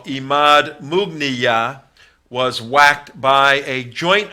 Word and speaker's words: Mughniyeh: Imad Mughniyeh, Imad, not Imam, Mughniyah. You pronounce it several different ways.